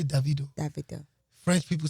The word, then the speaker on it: Davido: So basically David, but saying with an O at the end.